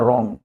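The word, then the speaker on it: wrong: इसलिए इसको बोला जाता है रॉन्ग because W is silent.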